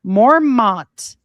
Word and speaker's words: Mormont: Mormont, pronounced Mormon, Belgium. Mormawn, Mormon.